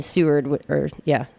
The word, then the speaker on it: Seward: up in Seward Seward, I think is how you say it.